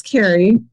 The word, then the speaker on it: Carrie: Carrie or Kari, I want to say it right too. You guys got to tell me if I'm saying it wrong. Carrie? It's Carrie.